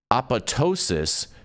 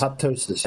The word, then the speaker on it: apoptosis: uh progression, and introduce apotosis through distinct pathways. Did I say that right? Aptosis. Apoptosis. Oh, apoptosis. Oh, son of a biscuit.